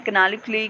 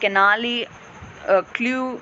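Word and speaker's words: canaliculi: Actually ये थोड़ी सी pronunciation अलग है, मैं कैनालिक्यूली कहती हूँ इन्हें, या तो आप कैनाली क्ल्यू अलग से बोल सकते हो, सो एज योर विश।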